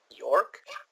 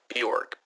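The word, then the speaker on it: Björk: York? Bjork. B-J-O-R-K.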